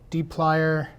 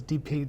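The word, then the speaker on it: dplyr: for uh for python the Tidy verse D plier which I just learned that's how you say it I always thought it was DP just you just said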